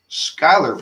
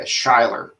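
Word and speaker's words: Schuyler: about it uh and it worked it's not skylar virginia it's 128 treetop loop yeah that's i'm sorry not skyler you're right yeah shyler s-c-h-u-y-l thanks triglad yeah that's what it is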